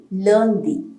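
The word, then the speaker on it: lundi: going to discuss that monday is learndi we always call like a lunar eclipse loon loon is a latin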